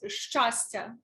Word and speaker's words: щастя: ЩАСТЯ, I think, might be a Ukrainian. I mean, I'm sure I'm saying it wrong. No, but, that is very close. ЩАСТЯ, exactly.